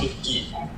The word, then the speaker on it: 토끼: I just wanted to correct your pronunciation. It's Toki.